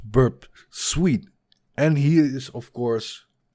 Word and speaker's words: Burp Suite: hacker 101 told me that burps ooh is pronounced burp suite and he is of course correct about that